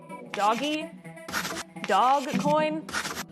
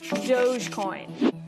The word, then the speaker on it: Dogecoin: first let's start with how to pronounce this thing doggy dog coin it's dogecoin the digital currency started as a joke between two software engineers in 2013.